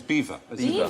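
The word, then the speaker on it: Belvoir: maning and bottom is B the bottom is beaver beaver the veil of beaver I am going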